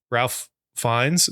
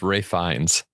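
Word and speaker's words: Ralph Fiennes: Yeah, Ralph Fines. Is that what his name? I want to call him Phineas. Pronounced Ray Fines.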